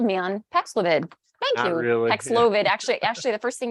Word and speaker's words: Paxlovid: are those who um can most benefit from paxlovid.